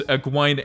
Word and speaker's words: Egwene: I don't have the slightest idea how it was originally intended to be pronounced. Right, so in the show, it's Egwene Alvear.